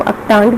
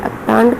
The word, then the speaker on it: UNCTAD: अब सबका अलग अलग इसका प्रोनाउंसिएशन है, मैं इसको अक्टांड बोलती हूँ, तो आप अपना देख लीजिएगा आप इसको कैसे बोलते हैं।